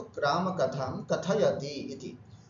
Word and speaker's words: कथयति: है, तो राम कथां कथयति इति। शुद्ध उच्चारण करना, कथयति, कथ्यत नहीं बोलना, कथयति, कथयतः, कथयन्ति, इस तरह से उच्चारण करना।